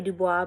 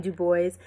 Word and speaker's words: Du Bois: Some people say Du Bois, but Du Bois said that you pronounce his name Du Bois.